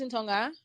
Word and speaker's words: Ntongha: to the questions okay uh my name is in tonga most people call me because my name is quite difficult to pronounce uh i'm from crosstalk state i've been